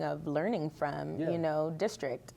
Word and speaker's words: DSTRKT: And if you look at it, we pronounce it District, but a little hidden gem in there is you can also look at it and it says Destruct.